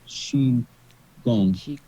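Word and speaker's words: qigong: Fu CH Kong but now they spell it with a Q and The Q sounds like CH so if you see q i g o n g that's sheong Chong um yeah if that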